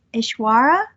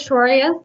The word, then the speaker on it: Aishwarya: And our next presenter is Ishwara. I may be mispronouncing your name. Hi, this is Aishwarya.